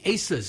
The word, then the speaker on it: Asa: Asa's how you pronounce it, right?